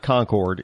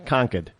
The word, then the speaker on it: Concord: out of conquer conquer gotta say it like New England is D it's not Concord it's conquer uh right here in